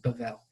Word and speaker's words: Babel: b or V so Babel is the way that you would transliterate it but yes you would pronounce it bevel yeah with more of a v sound but yeah you know